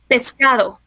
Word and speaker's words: pescado: Pescado.